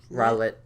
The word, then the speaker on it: Rowlet: Rowlet.